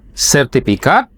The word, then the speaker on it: sertifikat: Kalau bahasanya bacanya bukan pakai F itu Pak. Bahasa dari pertanahan itu semua pakai P.